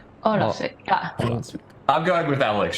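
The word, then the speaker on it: Ólafsvík: Olafsvik. Okay. I think it's I think no. Olafsvik. Olafsvik. Emphasis on the Olafsvik. O. Olafvik.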